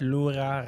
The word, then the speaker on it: Lura: I was thinking Kandalama, so I was like, did you know that Lura rhymes with Ura?